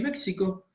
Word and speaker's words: México: Y la X, pero la X posta, que como México. Se escribe México pero suena México.